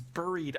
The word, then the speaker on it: buried: and so when he's buried over this house well he's in a crib buried underground and the house is built on Topper it is the proper pronunciation b-u-r-i-e-d buried very very good be